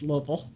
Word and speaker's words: Louisville: It's not you know it's Louisville. Okay. So it it's a very cosmopolitan city. It's it's very uh very cool. But you don't I didn't go outside of Louisville too much because it was a little too